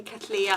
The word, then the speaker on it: cattleyas: i've bought are all cattleyas cattleyas and i'm sorry i really just can't say catalia i know it's the correct pronunciation but it's just doing